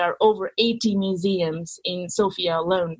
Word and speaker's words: Sofia: about area and you spend some time in Sofia the capital am i pronouncing that correct is it like the girl's